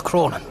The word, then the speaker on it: Kronen: I was saying it was Kronen. It's Kronen. Kronen, a good solid Irish name. And this is spelled with a KR, not a C.